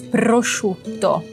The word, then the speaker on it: prosciutto: Prosciutto. Que na verdade assim, não é tão complicado. Chu. Pense que é chuchu.